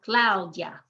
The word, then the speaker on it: Claudia: to make one sound claudia the i and the a are also making one sound because the u is weak and the i is weak lau dia lau dia two syllables and we emphasize the